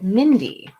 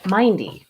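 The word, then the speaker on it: myndy: There's a Middle English word that's not used anymore called mindy. It's spelled like this, M-Y-N-D-Y, and it means to be mindful.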